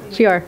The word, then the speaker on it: Fihor: Okay, those who excel, this is recognition, and if I could have Kara Caforio and Fihor. How do you say your last name? Fior, okay.